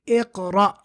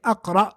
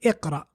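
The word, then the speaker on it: اقرأ: So we say iqra, what we're doing right now, which is read. Iqra. We don't say aqra or uqra if it starts with hamzatul wasl. We say iqra.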